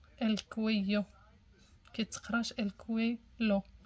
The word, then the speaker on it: cuello: el cuello, el cuello، جوج ال ال كيقراو كيتقراو كيو، الكويو كيتقراش الكوي لو، الكويو.